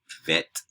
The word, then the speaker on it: vet: like a b and vet without the belly button is is like a v a game is going